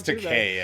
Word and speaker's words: Takei: I think it's Takei, actually.